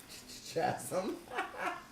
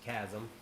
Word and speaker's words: chasm: Fury Rising even greater Chatham how did it what's the right way to say it chasm oh Chasm which is how you said it the second time okay it's probably the